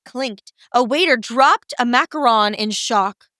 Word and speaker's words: macaron: a waiter dropped a macaron in shock I like how you pronounced macaron there thank you Mary very correct yes just so you know macarons and macaroons are two different things fun fact the more